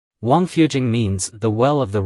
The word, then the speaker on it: Wangfujing: about this place's name in Chinese the pronunciation of Royal Mansion is Wang Fu and the pronunciation of well is Jing Wang fujing means The Well of